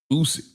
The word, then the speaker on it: Usyk: Usyk, Alexander Usyk.